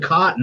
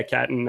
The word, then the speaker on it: Catton: I almost said cotton. That's why I kind of stumbled. I pronounced it Catan. I pronounced it Catan for a long time, and the most famous board game ever. But yeah, Catton.